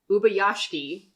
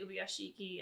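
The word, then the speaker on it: Ubuyashiki: And we obviously know that that's because, I think we've been saying this wrong the entire time. Ubayashiki, apparently. Ubayashiki. I've heard it pronounced 2 different ways, and that's like part of the like whole dropping a vowel in the middle of a name. I've heard some of the characters say Ubiyashiki, and I've heard a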